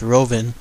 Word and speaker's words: Rouven: thick German accent, but how it's said in English, I believe it's Rouven, and he's located over at the Tropicana Hotel.